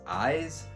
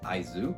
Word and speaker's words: Aizu: Now, I used to think that the series was pronounced as Eyes, but in the first volume they do explain that it's actually pronounced as Aizu.